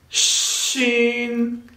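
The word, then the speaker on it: شين: The second one is Shin, Shin, Shin.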